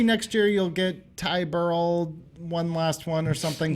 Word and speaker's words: Burrell: You mispronounced Ty Burrell's name the same way that people usually mispronounce my name. It's like you said Ty Burrell, like you actually say Merle, and people say Morel like they Morel. actually say Burrell.